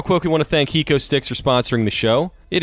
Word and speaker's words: HecoStix: Real quick, we want to thank HecoStix for sponsoring the show. It is spelled HECOSTIX.